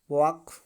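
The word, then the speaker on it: walk: टॉक, वॉक, चाक, ठीक है। Next, यन का साइलेंट होता है किसी भी शब्द में यम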